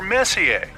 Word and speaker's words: Messier: Well, young lady, the M stands for Messier. Pronounced Messier, not Messier, as in, is your room messier than mine?